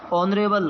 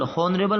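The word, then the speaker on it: honourable: ऑनरेबल, हॉनरेबल नहीं है, ऑनरेबल, ओ एन ऑनरेबल।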